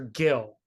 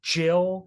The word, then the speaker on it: Gill: I named a character Gill like short from Gilbert yeah apparently that like that could be you know the way it's written could be pronounced Jill Jill oh okay New